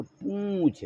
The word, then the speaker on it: पूंछ: तो पू और छा रहता है तो पूछ, और बिंदी लगा दें तो पूंछ। सही उच्चारण हो जाएगा पूंछ।